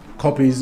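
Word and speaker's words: kopjes: are among the big copies or ctures they depend how you how you pronounce it it's supposed to be copies copies of course these copies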